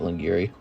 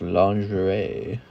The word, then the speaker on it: lingerie: When I was a kid, the first time I saw that word, I pronounced it Lingiri. Then I found out later it's lingerie.